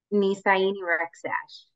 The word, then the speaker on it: Nisaini Rexach: Nisaini Rexach.